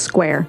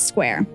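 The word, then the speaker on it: Squier: quite a bit because it is spelled the same as squire but it is not pronounced that way it's just square it's square okay he said that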